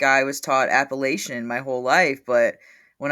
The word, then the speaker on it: Appalachian: Uh Cassie, do you say Appalachin or Appalachian? I say Appalachin because that's how you say it, right? Like that's correct.